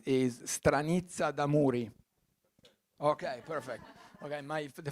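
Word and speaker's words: Stranizza d'amuri: let me know if I pronounce this uh pronounce it right is stranitza damuri okay perfect okay my the fact of my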